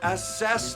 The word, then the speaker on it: assess: stop stop what it's assess the window not ass is the window you put the wrong emphasis on the wrong syllable and so you can